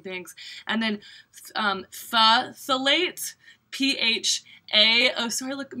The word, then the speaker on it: phthalate: know, you know me, I like am horrible pronouncing things, and then phthalate, PHA, oh sorry, look at me, I'm a mess, I have mascara here, at least I got it now, right?